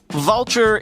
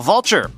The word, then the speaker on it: Vultr: Vultr is the infrastructure cloud.